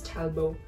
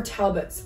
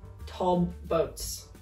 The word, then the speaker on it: Talbots: plain black top and the brand is talbo or Talbots okay once I said talbo and people are like why are you pronouncing it like it's French and I was like